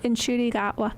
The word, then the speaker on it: Ncuti Gatwa: Plus with the doctor whose name I cannot pronounce cuz there's a lack of vowels. Oh, Ncuti Gatwa.